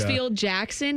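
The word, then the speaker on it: Hartsfield–Jackson: Hartsfield Jackson.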